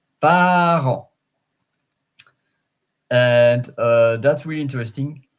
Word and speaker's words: parent: parents which is so same spelling not same pronunciation par par and uh that's really